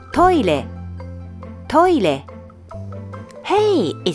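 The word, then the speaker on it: トイレ: When pronouncing re, your tongue touches the roof of your mouth.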